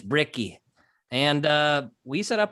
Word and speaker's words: Bricky: b as in bravo r-i-c-k-y a lot of people think my name's ricky but it's bricky and uh we set